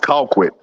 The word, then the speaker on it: Colquitt: on a neutral field you pronounce conquit wrong Mike no I didn't no I didn't I pronounced it just right Carrollton would like that secondary yeah you're still saying Carrollton but it's pronounced Colquitt but Carrollton and JuJu